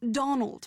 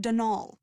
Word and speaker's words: Donal: Not Donald, mind you. There's no D at the end, so it's pronounced Denal.